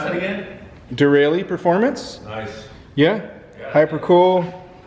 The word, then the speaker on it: Derale: the uh really hyper cool how do you pronounce that again dereli performance nice yeah hyper cool that's the model